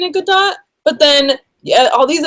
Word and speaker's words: Gadot: I had heard Gal in an interview say it was Godot. So that's why I've been saying it Godot.